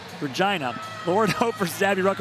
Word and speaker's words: Regina: Hunters in Regina, Saskatchewan, which rhymes with fun, Regina.